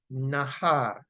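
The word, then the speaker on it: נער: And the word from which that comes is N-A-A-R, and it is pronounced Nahar, right?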